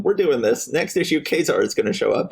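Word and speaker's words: Ka-Zar: I just could have been wrong my entire life, and I think in his first X-Men appearance, they say that it is pronounced Kazar.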